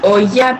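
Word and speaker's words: olla: to my friends well actually the pronunciation for that in this case would be oh yeah because of the two else that it has so say it again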